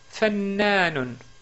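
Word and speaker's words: فنان: Premier mot. Fannanun. Ou, si on s'arrête sur le mot, on dit fannan.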